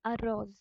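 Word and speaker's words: arroz: রোজ সো এটা একটা এখানে এই আর টা ডবল আর হচ্ছে রোলড আর হবে রোল্ড আর স্প্যানিশে হচ্ছে রোল আর আছে সো it will B এল আ রোজ রোজ রোজ which means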